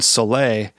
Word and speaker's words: Soleil: The opening tune, Soleil, that's how you pronounce it, right?